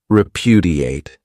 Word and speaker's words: repudiate: This verb has four syllables and the stress is on that second syllable, repudiate.